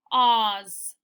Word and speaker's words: cause: This one we'll just have to remember that E is silent. So it's cause, cause. There, E doesn't make a sound in this word, cause, because, cause.